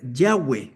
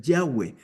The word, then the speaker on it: Yahweh: explicación, eh la palabra, la mejor manera de pronunciarla debería ser Yahweh, ¿verdad?